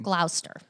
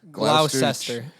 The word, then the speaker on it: Gloucester: Gloucester. Gloucester. No, I think it's Gloucester. Gloucestershire. It's Gloucester. pronounced like Worcestershire.